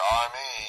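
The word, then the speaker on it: εἰμί: You heard it pronounced it there. I, me, E-I-M-I.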